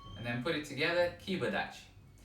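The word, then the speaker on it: kiba dachi: it together kiba daci sometimes the pronunciation involves adding a little bit of an e sound at the end kibadachi okay and sometimes it's just a little bit shortened keep a dash like this so let's try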